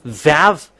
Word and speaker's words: vav: When we have seen this one that v equals vav like uh vog as a pronunciation.